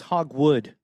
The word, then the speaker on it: Hogwood: It's Hogwood. Oh, Hogwood. My bad. Hogwood. Hog. No, we've all been saying it wrong.